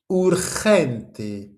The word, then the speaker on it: urgente: Urgent, comment ça se prononce? Urgente.